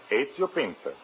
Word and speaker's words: Ezio Pinza: Is that the way you pronounce it? That is right. Ezio Pinza.